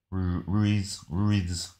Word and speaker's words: Ruiz: Not Marie, Ruse. Ruiz.